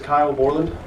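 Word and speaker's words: Kyle Bourland: My name is Kyle Borland. It's spelled Kylebourland.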